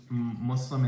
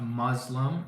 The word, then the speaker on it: Muslim: before I was Muslim it's not Muslim it's not Islam it's Muslim and Islam there's an S it's not a z I don't know